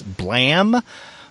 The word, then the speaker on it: Blame!: now this is spelled b l a m e in there's an exclamation mark in the title but it's not blame it's pronounced blam correct uh yes it